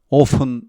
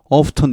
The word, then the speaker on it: often: 아니다 often 자주 종종 오픈 자주 종종 오픈 자주 종종 가끔씩 오픈 이렇게 티를 발음하기도 합니다. 미국 사람들 중에는 한 70% 정도가 오픈 이렇게 하고 한 30% 정도는 off턴 이렇게 티를 발음해 준다고 합니다.